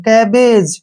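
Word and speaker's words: cabbage: जी का उच्चारण जय के रूप में हो गया, और लास्ट में ई जब आता है उसको हम छोड़ देते हैं, ठीक है ना, उसका उच्चारण कभी नहीं करते हैं। कैबेज, क्या पढ़ेंगे इसको?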